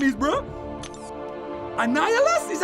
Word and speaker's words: Annihilus: let me see what his name is bro annihilus is how you say that annihilus that's like green goblin but iron man version